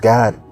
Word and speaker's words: Gad: You have the tribe of Gad, or we say Gad, but it's pronounced God.